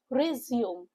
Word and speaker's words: resume: resume. Focus on the two syllable word with a stress on the second syllable.